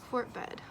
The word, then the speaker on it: Fort Bedd: Fort Bed. The second D is silent.